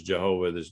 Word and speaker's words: Jehovah: you know jehovah jireh even though there's no such word as jehovah you can't pronounce it because there's no j sound in uh in in in hebrew so and then jehovah